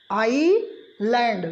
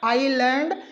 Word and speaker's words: island: नहीं करना है, हमें सिर्फ साउंड किसका प्रोड्यूस करना है, आई का। और आई के बाद हमें पढ़ना है LAND। LAND को आप पढ़ते हैं लैंड, तो हम लोग एग्जैक्ट जो इस वर्ड का प्रोनाउंसिएशन करते हैं वह क्या करते हैं, आई लैंड। जी हाँ, सही कहा आपने, आई लैंड।